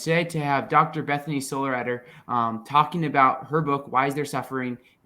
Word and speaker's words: Sollereder: Sollereder. Although that is not the German pronunciation, so who knows how it's really meant to be pronounced.